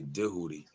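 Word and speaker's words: Djehuti: You have to say Dehootie. And being from the hood, we ain't pronounce it like the white man told us to. Anyways, we wasn't saying Tahuti. We been saying Dehootie.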